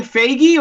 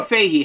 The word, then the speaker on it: Feige: I believe yeah now Kevin Feige or Fahey how do we say his name Figgy we we say family always think it should line with beige it's coming baby this